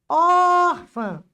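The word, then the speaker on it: órfã: Em orfã, a sílaba tônica é o or. Ófã, não é a última.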